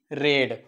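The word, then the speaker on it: read: लेट the lesson B रेड जस आपण म्हणू की रीड the lesson रीड the lesson so लेट the lesson B रेड या ठिकाणी स्पेलिंग तीच राहणार रेडला आपण रेड वाचतो पास्ट टेन्स मध्ये सो लेट द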